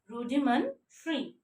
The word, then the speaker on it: rudimentary: Rudimentary. This, here we can see T-A-R-Y. Tari. No, when you pronounce it, we have to pronounce it tree.